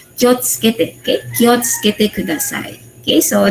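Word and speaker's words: 気をつけて: Though, para siyang particle, pero ang pagbasa is kiyo, kiwo, tsukete kudasai, ganon. Pero ang pag-pronounce mo, wag kiwo tsukete kudasai. Yung sabi ko kanina sa video, you must pronounce it with kyotsukete.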